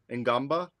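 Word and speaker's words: Ngongba: like a potential Patrick Ngamba. It's Gongba. Gumba. Yeah. Gumba. You don't pronounce the N.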